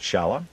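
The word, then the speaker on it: Szala: We would pronounce that Shala. That's what it is. S-Z-A-L-A, and he got the whole lot.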